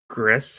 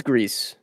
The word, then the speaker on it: Gris: don't think I finished Gris was how do you say grease Gris I think it's Greece gree okay or Tech hold on if I remember right it's G it's GRE yeah okay but uh yeah